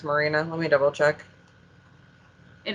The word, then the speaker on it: Marina: between thunder rosa and is it maria shafir is that how you say her name it i believe i think is how you say her last name but marina i know it's not maria yeah i don't know